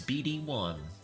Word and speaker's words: BD1: How do I pronounce my name? It's BD1. BD. The BD does stand for something. I think a lot of people think which it's kind of